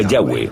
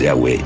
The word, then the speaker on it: Yahweh: siquiera se puede pronunciar no sabemos exactamente lo que significa y tampoco como se pronunciaba pero parece ser el nombre personal del dios de Israel de modo que de alguna manera su título es Dios y su nombre era estas cuatro palabras en inglés y español son yhwh pensamos que probablemente se pronunciaba yagüe o algo así pero Yahweh solo